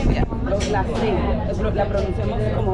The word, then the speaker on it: gracias: Người Trung và Nam Mỹ phát âm nó là Gracias. Nó không được phát âm là thias . Ở đây nó được phát âm là S, vì vậy câu trả lời đúng cho từ gracia là gracia.